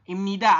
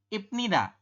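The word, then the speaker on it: 입니다: anda akan membacanya ibnid padahal ya mengenai aturan baca nomor 3 ini di nomor 3 ini bahwanya nya ada bep di bawah ketemu dengan niion di samping maka Bie berubah bunyi menjadi miem maka kita membahasnya adalah Im ni da seperti ini y robbunnya kita membacanya adalah imnida mana yang berubah yang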